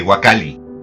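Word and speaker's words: huacalli: que usamos constantemente que vulgarmente hoy llamamos waka la palabra deformada y que da nombre a los clásicos cajones de madera de los tianguis pero cuya pronunciación correcta es la de gua cali es decir en esa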